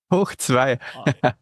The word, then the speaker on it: Hochzwei: It's hochzwei.media. Is that correct? Almost correct. Hochzwei.